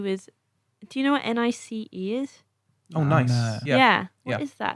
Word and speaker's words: NICE: No, the H is silent for some reason. It should be nice.